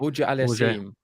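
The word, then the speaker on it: Auger-Aliassime: I always get his name wrong. I need to say it right. Auger Aliassime.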